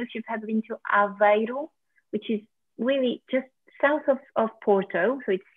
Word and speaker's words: Aveiro: And how do you spell that? It's A-V-I-I-R-O. A-V-E-I-R-O. Aveiro.